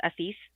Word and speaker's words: Asis: It's not ASIS, it's ASIS.